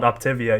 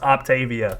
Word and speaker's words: Optavia: to this day i i still call it optivia even though it's octavia super excited and i wanted